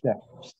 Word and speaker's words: chef: Entonces la diferencia con el inglés es que el CH se pronuncia sh, como chef.